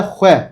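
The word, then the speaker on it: xwe: Ya da hue. Kürtçe'de kendim demek. Ya da hue. Bakın hue.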